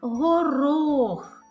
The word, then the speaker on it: горох: Так, горох. Наголошений склад який? Так, другий склад наголошений.